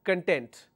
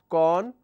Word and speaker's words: content: One common area where people make mistakes, there is a word which is content. What is the pronunciation of this particular word? Can somebody tell me? Lot of people pronounce this as con. Sorry. Lot of people pronounce this as content, right? But there is another pronunciation of this word which is content. So is it content or content?